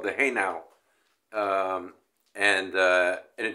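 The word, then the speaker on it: hejnał: which is uh um it's a polish letter hey now is how you pronounce it now that hey now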